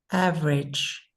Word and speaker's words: average: Average. Okay, average. Everybody, average, average. We say it more like 2 syllables instead of 3.